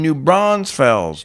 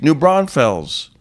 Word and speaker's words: New Braunfels: doing canyon lake in new bronze fells new braunfels new braunfels shout out to the miguel romero for teaching me how to pronounce it it's called wow new braunfels i kept saying it wrong but yeah i got